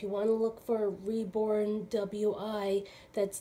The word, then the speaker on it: Reborn WI: So I was mispronouncing the name of the nursery. This came, I was saying Reborn Wee. It's W-I, and the baby came from Wisconsin. So I realized today it's Reborn W-I. It's not pronounced Wee.